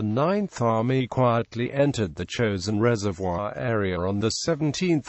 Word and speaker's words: Chosin: of the Korean Peninsula the name chosen is the Japanese pronunciation of the Korean place name Chang Jin and the name stuck